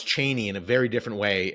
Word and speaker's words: Cheney: Bush era when then Chris Matthews he would pronounce Cheney in a very different way and was saying this is the right way to say and like Dick Cheney never pronounced it it was like Cheney you